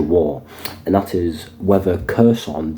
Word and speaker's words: Kherson: and that is whether kerson the city of kerson or somebody pronounce it hon it just depends how you want to pronounce it really whether that City in